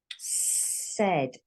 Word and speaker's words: said: Said. So you've got an A and an I here. But it sounds like this. This is how it sounds.